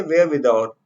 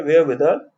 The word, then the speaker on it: wherewithal: ये जो आर है ना, ये साइलेंट है, तो इसे कहेंगे वेयर विदाउट. ठीक है, वेयर विदाउट.